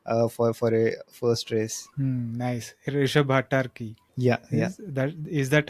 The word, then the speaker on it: Rishabh: Rishabh Bhattarki. Yeah, yeah, Is that how you saw pronounce his name? Yeah, right. yeah. Rishabh Nice.